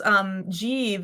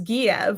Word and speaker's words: Jeev: And they would pronounce Jeev as Giev, which I totally get. I just like, because I made that name up, but I wrote it like in my head for whatever reason. I thought of, Kiev.